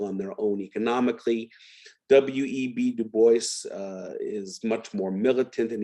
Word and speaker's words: Du Bois: Du Bois or Dubois? I'm still never quite sure the proper way to pronounce it. I'll say Du Bois.